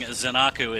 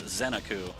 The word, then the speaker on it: Zeniku: on top 3-0 and yes i pronounced it correctly apologies for the last five years i've been saying zanaku it's zeniku so i've atoned for